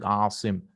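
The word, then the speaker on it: عاصم: And some people have the names, and many people make it, Athim, the pronunciation should be pronounced as Asim, protector. That's with an Ain. Athim is sinful.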